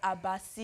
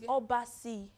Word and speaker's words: Obasi: But the Obasi, oh God, is either it's Obasi or Abasi. Oh, pronounce it. It's Obasi. Obasi.